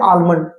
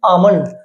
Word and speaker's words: almond: Same वैसे ही देखिए ALMOND, तो इसको इसको हम क्या पढ़ते हैं, आलमंड। लेकिन एक्चुअल में इसकी साउंड क्या होती है, इसकी प्रोनाउंसिएशन क्या होती है, आमंड।